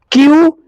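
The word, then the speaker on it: queue: उसका स्पेलिंग सुन लो, 5 गो उसमें अक्षर है। क्यू, यू, ई, यू, ई। उच्चारण है क्यू।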